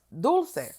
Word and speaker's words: Dulcé: n on IG man make sure it's pronounced dou yeah like dou de leche ice cream is what I was